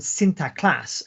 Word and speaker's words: Sinterklaas: called Sinterklaas, and so my Dutch pronunciation is not very good, obviously. Sinterklaas, right? And of course, you can already hear when I say that it sounds very similar to Santa Claus. Santa Claus is just the anglicized version, right? It's the anglicized pronunciation of Sinterklaas, and Sinterklaas itself means